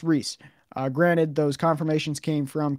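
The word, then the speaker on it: Ries: different podcasts i found different interviews it is pronounced reese and i am 100 confident in that um i apologize but i really wanted to make sure i got this name right um so it is rhys it's spelled rise but it's pronounced rhys i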